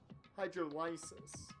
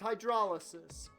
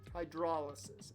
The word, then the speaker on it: hydrolysis: head back to its hydrolysis okay I am wrong I am wrong hydrolysis it's like hydraulics hydrolysis got it now